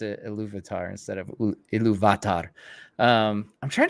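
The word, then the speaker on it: Ilúvatar: I hope I hope uh I hope Andy pronounces it a louvitar instead of um I'm trying to think of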